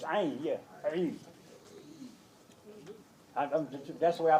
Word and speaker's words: Eid: Tell people, it ain't Id, it's Eid.